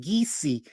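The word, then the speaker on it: Kissi: the geesi that's geesy k i SSI is pronounced geesi people of Liberia on the other hand gulla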